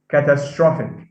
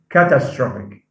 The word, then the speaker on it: catastrophic: climatic climatic uh catastrophe we say the situation is catastrophic catastrophic so it's not catastrophic catastrophic um problem ethic